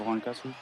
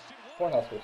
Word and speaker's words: Cornhuskers: Nebraska Horncuskers? How do you say it? Cornhuskers, yeah. I was saying Horncuskers.